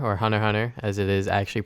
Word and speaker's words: Hunter x Hunter: Hunter x Hunter, or Hunter x Hunter as it is actually pronounced, finally finished it.